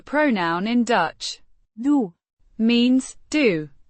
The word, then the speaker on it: doe: doe, Means do, pronounced do, with a long o, sound similar to the oo in moon.